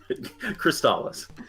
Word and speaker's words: Crystalis: I mean, Crystalis. Okay. So, Like they say in the commercial. There was a TV commercial for this game, and that's how they pronounced it.